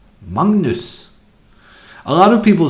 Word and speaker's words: Magnus: the French this time as much as Magnus pronounced mangas in Norwegian no Magnus is pronounced Magnus a lot of people say that Norwegian when